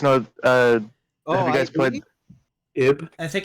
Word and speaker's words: Ib: uh you guys played IB I think it's is it Eve or IB I believe it's pronounced IB wait is it iron is it is it it's just IB yeah I baby I